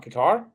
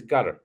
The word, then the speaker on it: Qatar: Yeah, how they pronounce it is Qatar, Are you saying gutter or cutter? Qatar. Cutter. Yeah, it sounded like you said gutter at first, but yeah, it's similar to gutter, but with a Q Yeah, or a CU, cutter.